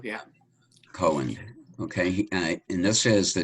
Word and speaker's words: Cowan: All right, so I think the first one we'll do is here, pronounced Cowan. Cohen, yeah. Cohen, okay.